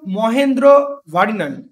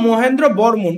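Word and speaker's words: মহেন্দ্রবর্মন: কাছে পরাজিত হন কিন্তু প্রথম মহেন্দ্র ভারিনান ঠিক আছে বা প্রথম মহেন্দ্র বর্মন এটা ভারিনান সব জায়গায় লেখা থাকে না একচুয়ালি ইংলিশটা ভারিনান উচ্চারণ নয় প্রথম মহেন্দ্র বর্মন ঠিক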